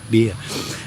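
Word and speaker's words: bia: B I A pronounced beer.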